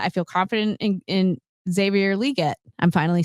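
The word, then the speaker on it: Xavier Legette: confident about that I feel confident in in Xavier liette I'm finally said it right thank God that's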